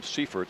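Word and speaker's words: Seifert: Actually, I think he pronounces his name Seaffort. And I keep uh I keep saying Ciphert because it's I think it's spelled that way, but bit of smoke there.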